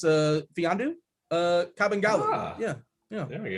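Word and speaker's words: Mfiondu: So the M is silent. It's Fiandu, Kabengele.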